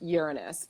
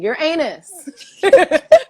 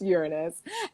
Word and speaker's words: Uranus: planet in our solar system okay it is pronounced uranus please stop saying you're anus like it's anyway it's pronounced uranus and it is definitely the planet of um